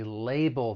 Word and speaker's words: label: negative now for pronunciation the word has two syllables the stress is on that first syllable label the other thing I'd like to point out is the second syllable it ends with that dark L which is that all sound and then if we're